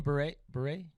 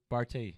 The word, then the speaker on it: Barty: how do you say your last name? Beret? Barty. Barty. Barty. It's a French name.